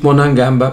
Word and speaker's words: Monangamba: contratado pode ser dito monangamba pode ser dito monangambé é o pior Insulto que